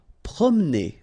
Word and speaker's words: promener: Promener. Okay, don't insist on this here. Okay, so it will go like promener.